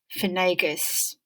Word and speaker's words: Finnegas: these two strange words feon it's pronounced as finn and finnegas as phenagus how do you think